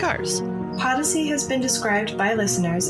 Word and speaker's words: Podyssey: Podyssey is Odyssey spelled with a P. Podyssey.